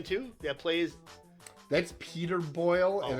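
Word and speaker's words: Boyle: in Young Frankenstein too that plays that's Peter boil and it's spelled a completely different way is it his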